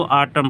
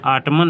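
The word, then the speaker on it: autumn: तो आटम का, इसको आटम पढ़ते हैं। यहाँ पर यन जो है साइलेंट होता है, आटमन नहीं होता, आटम होता है।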